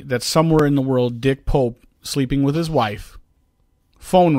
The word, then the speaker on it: Dick Pope: accidental techies a pretentious dentally mispronounced the name of mr. Turner's cinematographer as dick boo his real name is dick Pope which provides its own